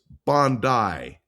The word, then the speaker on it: Bondi: It is Bondi Beach. I mispronounced it and one of our loyal listeners